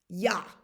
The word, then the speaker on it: ja: Ja.